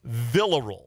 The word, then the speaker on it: Viller: I tried to uh I maybe tried to uh pronounce it in Spanish when it did not need to be I didn't need to roll my L's. Uh Viller is the uh pronunciation per the KState website. So uh I'll get that right from here on out.